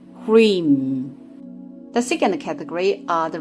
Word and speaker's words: Hrim: Bijakshara, seed syllable pronounced Hrim.